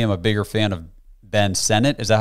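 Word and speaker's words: Sinnott: Texas I personally am a bigger fan of Ben Senate is that how you say his name yes I like Ben senet from Kansas State a lot better than jatavian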